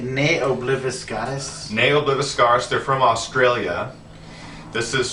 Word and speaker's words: Ne Obliviscaris: Ne Obliviscaris.